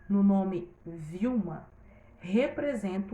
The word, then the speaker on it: Vilma: Eu já vi Wilma também, tá, gente? Por isso que eu fiquei meio assim na hora. Mas aqui, no caso, a pronúncia seria Vilma, tá bom?